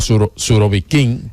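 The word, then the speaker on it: Surovikin: pues que el general surobikin o surobiquín el carnicero de Siria Sí la cosa ya se pronuncian con el acento atrás el general Armagedón como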